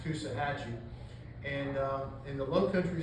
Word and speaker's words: Coosawhatchee: which I thought was, the way it's spelled, I thought it was Coosawhatchee, but it's actually pronounced Coosahatchee.